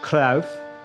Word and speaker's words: Cruyff: It's pronounced Cruyff. My apologies. With total football, Johan Cruyff.